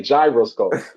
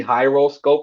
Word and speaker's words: Jyroscope: So when you see J, It's gotta be a J. You can't help but just say gyroscope. Even though maybe phonetically that probably is the J is probably silent and it would probably be Hyroscope or something like that.